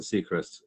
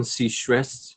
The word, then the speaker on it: Seacrest: Like we'd known each other on social media, Jason Seacrest. And I mean, that's how his name's pronounced, right? Like Ryan.